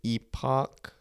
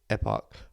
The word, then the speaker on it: epoch: in British English. It's said as epoch, epoch.